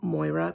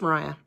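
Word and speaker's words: Moriah: me or Mariah Elizabeth I pronounced her name Moira because it's spelled m-o-r-i-a-h but her name is Mariah okay but she makes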